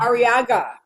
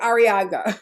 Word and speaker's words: Arriaga: I think I'm mispronouncing your name, so help me, Dr. Yes, good morning, Areva. Thank you. It's Dr. Arriaga, and don't worry about it at all. Arriaga.